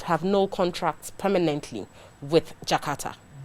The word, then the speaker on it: J'Karta: yeah is that how you say it jakarta jakarta okay so jakarta is a one-year-old company they